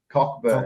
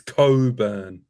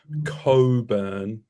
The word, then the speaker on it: Cockburn: Rocco, how do you pronounce a suburb? Cockburn. Is that how you Yeah. pronounce it? It is. It's Cockburn. Nah, it's Coburn, but it's Cockburn.